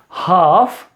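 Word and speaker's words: half: It sometimes L gets silent. अब एल कहां कहां साइलेंट होता है आपको ये याद रखना है, ये आपको मालूम होगा। सो it's becomes काफ, हाफ, haves, could, should, would, Sam and talk.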